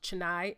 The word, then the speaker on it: Chennai: I believe it's pronounced Chennai, India.